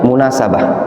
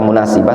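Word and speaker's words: مناسبة: Yang lebih tepat itu bacanya munasabah, ya. Sebenarnya bisa antum baca munasibah, tapi lebih tepat munasabah.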